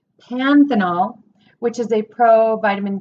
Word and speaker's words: panthenol: vitamin C vitamin A polyphenol which is no that's not how you say it panthenol which is a pro